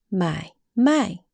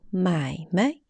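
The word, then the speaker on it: 买卖: Next one, 买卖 means buy and sell, so trade. But neutral tone 买卖 means do some business, especially little business.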